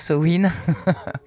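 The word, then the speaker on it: Samhain: Bon bref euh moi j'aime bien dire Soin moi je suis plus sa main mais je sais que c'est pas comme ça qu'on le dit mais bon mais franchement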